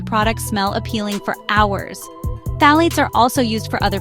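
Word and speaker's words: phthalates: Phalates. This word might be a bit harder to say, but it is important to know about them. Phalates pronounced phalates are often used in skincare products too.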